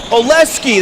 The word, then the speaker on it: Oleski: Oleski, that's an S.